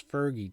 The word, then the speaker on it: Fergie: my whole life and I don't know why I'm all of a sudden making my g a soft G instead of a hard G at this point in